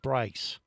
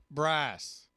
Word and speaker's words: Bryce: Bryce rhymes with rice. No, Bryce. Bryce.